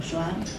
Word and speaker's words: Shoah: Por un lado, en el marco europeo aconteció la Shoah, así usted, ¿no es cierto?, se nombra también como Holocausto o Shoah, pero pronunciado bien, que fue un proceso